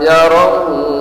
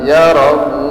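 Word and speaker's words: يَرَهُ: dua harakat ayahsabu allam yarahu ahad ya pengucapan huruf u betul-betul pucung deh betul-betul maunya betul-betul maju bibir kita pucung mah ayahsabu allam yarahu ahad yarahu muna kurang-kurang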